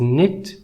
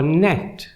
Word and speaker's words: Neith: open for me because her name is written with the hieroglyphs pronounced n and T and like with the Arabic writing vowels such as e and I are not included so her name could be pronounced as nit or net weaving knitting and Nets